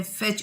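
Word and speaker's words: fetch: इसमें N silent है, फेच इसमें टी साइलेंट है, बिस्किट इसमें यू साइलेंट है, रिंकल्ड इसमें डब्ल्यू साइलेंट है, स्विच इसमें टी साइलेंट है।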